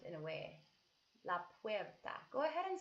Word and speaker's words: puerta: it las casas so the door is la puerta la puerta so look at the word and see how we pronounce it we're well it's up so the